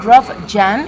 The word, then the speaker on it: Jahn: Perform Go, organizado por Dynatrace, y estoy con Rob Jahn. ¿Is that the right pronunciation?